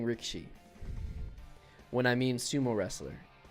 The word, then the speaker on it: Rikishi: him a sumo but it's spelled Rikishi and then all the videos I've watched it's pronounced Rick sheet so I'll probably be saying Rick sheet when I mean sumo